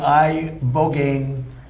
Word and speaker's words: ibogaine: In 2024 study from Stanford University, 30 special operation veterans with traumatic brain injuries underwent, it's called ibogaine treatment. Ibogaine. Remember the name. Is that pronounced relatively properly, would you say?